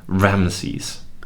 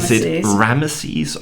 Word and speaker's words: Ramesses: ramesses or ramses well i think if you're american it's ramses yes but if you're british and european ramesses and i think rama sees with the extra e in it is closer to the egyptian i think so yeah